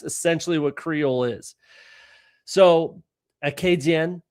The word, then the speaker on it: Acadien: So even the word Acadian, like the way that, French people in this country, in Canada, would say it, or the proper way to say Acadian would be Acadien, right?